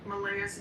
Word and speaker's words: Malaya: I did catch a video of Daniel Martell and for the first time I heard him say Malaya's name. Malaya, that's how he pronounces it.